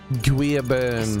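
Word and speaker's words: Louis Guiabern: Guillabern, all right. Now listen to how he says it. Hold up. Ah, won't let me play it. Ah, he says Guillabern or some shit like that.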